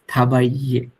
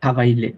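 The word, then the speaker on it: travailler: হ্যাঁ, সো এটার জন্য হলো হাওয়াইয়ে, ডাবল এল কিন্তু নাই উচ্চারণের সময়, কারণ আই ডাবল এল ই হলে মাঝখানে ডাবল এলটা সাইলেন্ট হয়ে যায়। ইটস থাবাইয়ে, থাবাইয়ে, থাবাইয়ে। হ্যাঁ, নট থাবাইলে, থাবাইলে হবে না, কারণ হচ্ছে ডাবল এলটা উচ্চারণ হচ্ছে না।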